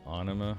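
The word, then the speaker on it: Ænima: Lateralus proved to be the commercial and critical gain of, I believe it's pronounced Anima.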